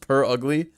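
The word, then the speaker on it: Purugly: I know it's purr like a cat, but I still thought you're supposed to pronounce it pure ugly.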